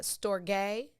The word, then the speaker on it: storge: i listened to several variations of how to pronounce them but you have the storge spelled s-t-o-r-g-e which is an empathy bond like